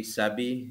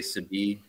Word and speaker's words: Sebe: I would say Sebi is probably how most people say it, or you can say Sabi, whatever you want.